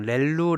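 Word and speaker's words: ReLU: 말 잘 안 쓰구요 그냥 레벨로 라고 발음을 하면 되겠습니다 입력 2 0 의하면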